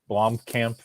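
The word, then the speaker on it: Blomkamp: yeah that's good yeah he's South African so you know Blom Camp you're you're close yeah I'm trying I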